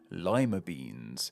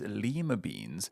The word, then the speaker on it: lima bean: by another name too lima beans what's interesting about this one is that we pronounce this word differently when using it for the beans when compared to how